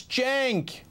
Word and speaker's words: Cenk: The C is pronounced like a J, so it's Cenk.